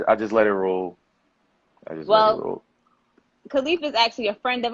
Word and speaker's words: Khalif: y'all could clap inside the comment sections for khalifa i said it right correct yeah you said